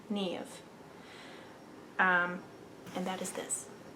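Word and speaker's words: Niamh: is an irish name so it is spelled n-i-a-m-h and i believe it is pronounced nave nev we're going to watch a little youtube video right now so we can know if it'll load there we go okay now we know nev um and that is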